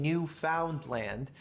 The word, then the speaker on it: Newfoundland: A Newfie is a Newfoundland. And I know it sounds like I'm saying New Finland, but I'm saying Newfoundland in a way that it's properly pronounced.